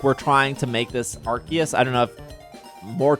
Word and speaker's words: Arceus: which is Arceus which is how you say Arceus um so I think that's really really cool